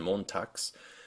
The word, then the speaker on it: Montags: b, v, and g into unvoiced ones like t, s, p, f, and k when they show up at the end of a word, which shows up like in Hand and Montags, or at the end